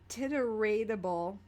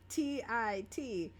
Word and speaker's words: titratable: in the, all right, I'm gonna butcher the pronunciation of this, but the titeratable I swear to God, TITRATABLE, titeratable.